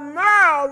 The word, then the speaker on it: Meryl: But Meryl rhymes with girl, so Meryl girl.